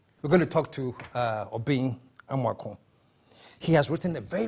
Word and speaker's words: Obeng Amoako: I keep getting your name wrong. It's Obeng Amoako.